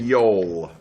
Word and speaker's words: Joel: Jay and Yoel. Yoel. Stop saying Joel. You're not allowed to say Joel. If you're going to say it like the Swedish, then you got to say Joel.